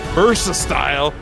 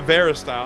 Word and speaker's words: Versa style: Versa style, not Vera style.